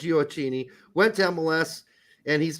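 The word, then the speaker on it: Gioacchini: me later I know I always want to say geocachini but it's not it's giocini went to MLS and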